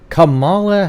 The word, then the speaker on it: Kamala: had was on uh don't pronounce it wrong everybody kamala harris okay it's comma like the comma and then la harris you know the guy